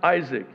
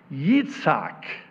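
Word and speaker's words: יצחק: Now, in English, we pronounce it Isaac. In Hebrew, it's pronounced Yitzhak.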